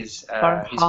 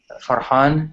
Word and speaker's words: Farhan: Farhan, or Murad can pronounce it perfectly because he Farhan. speaks Arabic. But yeah, Farhan or Farhan in like the Arabic way, or yeah, just Farhan is fine, or Farhan is fine.